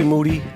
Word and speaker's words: Moody: uh g monetti g Moody last name rhymes with Duty um 20 5 podcast